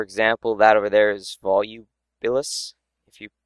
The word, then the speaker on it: Volubilis: For example, that over there is Volubilis, if you pronounce it correctly.